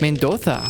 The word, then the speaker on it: Mendoza: So, they had stopped overnight in Mendoza, which if you really lean into it, it is pronounced Mendoza.